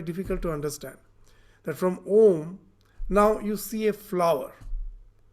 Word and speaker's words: Om: Now in pronouncing this Om, A, U, Ma, your tongue is in no way used.